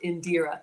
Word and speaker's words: Indira: She says it's pronounced Indira.